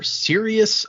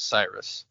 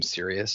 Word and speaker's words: Sirius: And the other one is a skull level backer, Sirius 3100. It's spelled like Sirius Black. Yeah, that's another name in Harry Potter. When I first read it, I I thought it was Cyrus just because I'd never heard the name Sirius.